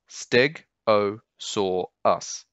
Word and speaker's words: Stegosaurus: Next up, we have Stegosaurus, quite a popular dinosaur with all its spikes. Again, four syllables, steg, o, saw, us. So quickly, Stegosaurus.